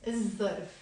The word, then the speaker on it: الظرف: So if I'm gonna write il plus ظرف here, ما بنلفظ اللام. We don't pronounce the lam. ليش؟ لأنه حرف ذا حرف شمسي. It's a sun letter. So we will say الظرف and not الظرف, okay? الظرف.